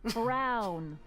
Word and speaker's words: Brown: try to brainwash Emmett Brown rhymes with clown which I'm beginning to